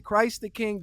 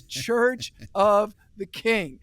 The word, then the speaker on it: Church of the King: A lot of people mispronounce it. They'll say Christ the King, different things. It's Church of the King. That's the name of the church.